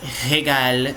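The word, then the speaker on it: régal: E o regal. E regal no plural, que também é a mesma pronúncia, só que com S na grafia.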